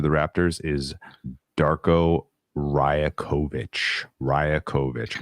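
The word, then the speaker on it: Rajaković: the coach of the Raptors is Darko rakovic rakovich r a j a k o v i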